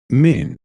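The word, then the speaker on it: מין: old testament was written it is the word pronounced men that can be rhymed with green in modern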